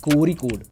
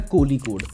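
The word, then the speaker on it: Kozhikode: इसका सही प्रोनाउंसिएशन है कोरिकोड या कोलिकोड, और इसे पहले कालीकत के नाम से जाना जाता था।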